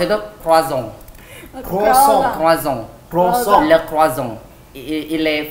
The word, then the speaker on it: croissant: Jadi pronounce itu croissant.